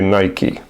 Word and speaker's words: Nike: And that should also clarify the corre correct pronunciation of the name Nike. It actually it's actually Nike.